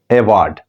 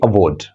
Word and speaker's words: award: But when you are talking, ठीक, when you are talking English over there, you should avoid, pronouncing this word like award. No, you cannot say that. You must say award.